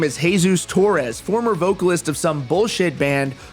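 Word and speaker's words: Jesus: some lame-ass reason he calls himself Davi vanity pronounced sick but his real name is hey-zeus Torres former vocalist of some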